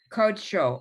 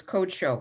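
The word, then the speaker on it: קדשו: Okay, because that word, like the word call, it's one of those irregulars that when you see that that little T under the letter, it's pronounced or, like the Sephardic pronunciation, like the Ashkenaz rather than Sephardic. It's just it's an exception to the rules.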